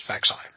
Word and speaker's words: Faxai: And for anyone who is interested, because I saw some people asking on the message board, that is how you pronounce Faxai. It's Faxai.